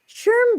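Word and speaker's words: SHRM: got an email from how do you pronounce these guys s-h-r-m I always want to say true but I know that's not right Sherm just accepted me as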